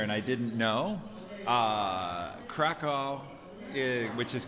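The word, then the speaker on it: Kraków: i didn't know uh krakow which is krakov i keep i'm doing the american pronunciation of the w like a w when it it sounds like a v so krakow is a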